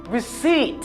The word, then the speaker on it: receipt: Ça prononce comment? Receipt. You say receipt.